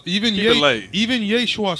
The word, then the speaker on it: Yeshua: not Jesus. Jane Schwan with the feng There was shui. no such thing as the letter J in the Hebrew alphabet.